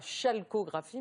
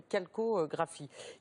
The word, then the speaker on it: calcographie: D'où cette prononciation d'ailleurs pas chalcographie mais calcographie.